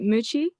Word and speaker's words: Muchie: Hi, Brother Muchie. Did I pronounce it right? Muchie? Yes, you did it perfectly.